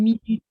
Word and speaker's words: minute: C'est comme une minute, on dirait pas. Hein? Ouais, donc c'est la deuxième syllabe qu'il prononce plus fort. Minute.